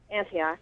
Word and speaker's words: Antioch: right yeah is that how you say it Antioch yeah okay okay and um how do you